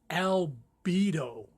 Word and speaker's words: albedo: you hear that I'm my pronunciation is not this clear but its albedo now it's a latin word and it comes from white the Latin word for white I think it's like albino